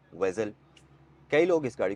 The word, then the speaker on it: Vezel: से यह बन गया वेजल तो इसको हम प्रोनाउंस विजल नहीं करेंगे यह एक्चुअल में वेजल है और अब आते हैं